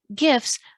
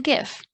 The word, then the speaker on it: GIF: topic of hot dispute the originators of the file type pronounce the g like j pronouncing the word like jif but another popular pronunciation